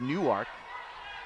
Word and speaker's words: Newark: Spelled like Newark, but pronounced Newark.